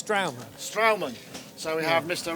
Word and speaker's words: St.raumen: Can you pronounce the name of the act? Well, he can pronounce it better, but it's straumen.